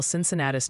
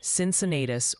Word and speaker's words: Cincinnatus: Oh, and before you try to tackle Cincinnatus, New York, the chat jury is in. It's pronounced Cincinnatus or Cincinnatus.